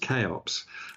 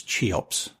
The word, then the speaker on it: CHEOPS: think it might be normally pronounced chops okay it's named after a an Egyptian Monarch uh from ancient times but it is I grew up thinking that the um the pronunciation was chops but yeah it might